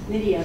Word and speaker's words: Nydia: Again, my name is Nydia, and that's pronounced Nydia rather than however she said it. It rhymes with the name Lydia, and my last name, sounds like tis a season to be jolly.